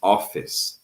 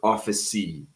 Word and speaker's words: office: So it is office, never officey. All right. If you pronounce officey, it's wrong, you guys.